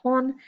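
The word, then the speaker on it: 本: on so for example this symbol here is pronounced horn and it also means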